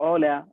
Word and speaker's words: hola: Okay, so ഓല, ഓയ്, ഓറ. സോ എച്ചിന് ഹ് sound ഒരിക്കലും കൊടുക്കാൻ പാടില്ല.